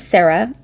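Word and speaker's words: Sera: So our main character, her name is Sarah. It's spelled S E R A, but it's pronounced Sarah per the audio book.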